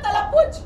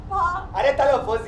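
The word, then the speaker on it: तलफ़्फ़ुज़: सर तलफुज भूमि तुम बोलो तलफुज। ता ला तालाफा तलफ्फुज़ यार, तलफ्फुज़।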